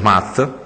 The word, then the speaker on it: Math: il Birraio del neonato birificio Mat giusto Si si pronuncia così Mat mat e che nasce poco